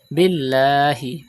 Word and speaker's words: بالله: Billahi. Pronounce the Lam of Allah's name with thin voice because there is Zair before it.